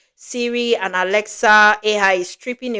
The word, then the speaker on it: Siri: Instead of using his TV, you just talk to the you know, is it Siri or Syri? Siri. Siri.